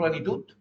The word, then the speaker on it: plenitud: Eixut rima amb plenitud. Sona igual, no? Per què? Perquè resulta que en català la T final i la D final sona igual. Allí ho tens, d'ahir. Vale?